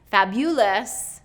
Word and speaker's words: fabulous: not third syllable and then fabulous okay fabulous fabulous is second syllable stress but the correct way is fabulous he was looking fabulous